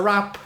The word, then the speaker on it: wrap: that's where the W we're not gonna sing rap with an R no rap with a WRA P you know rap there will be no